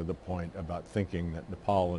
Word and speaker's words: Nepal: point about thinking that Nepal and Bhutan which incidentally he also mispronounced as nipple and button our part of India